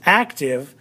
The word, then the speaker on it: active: the syllable is activity but when we do the base word and which is active active the act the accent is actually on the very beginning so it's active but when we add